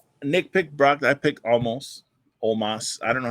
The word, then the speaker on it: Omos: I picked Omos. I don't know how to say his fucking name. I say it as almost. It's but it's Omos. It's spelled almost.